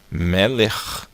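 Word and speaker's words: מלך: A gente coloca aqui o C e o H, e esse CH indica que é um som de RR gutural, de 2 R's feito na garganta, da letra Raf Sofit. Então, Melech.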